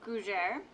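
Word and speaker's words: gougère: they have the most wonderful of French treats gujar that's g-o-u -g-e-r-e if you needed to spell that and um gujar are a Savory French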